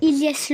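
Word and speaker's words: Hilyes: Vous avez qu'à voir mon compte TikTok, c'est Ilyes. Par contre, Ilyes, ça s'écrit pas comme vous le savez. Vous. Ok? Ça s'écrit H-I-L-Y-E-S.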